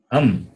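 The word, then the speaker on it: अं: How do you pronounce it? Am. A plus anuswara. A and anuswara. Can you hear me? Am. A plus anuswara. A plus anuswara. Am. A plus anuswara is A plus anuswara is am.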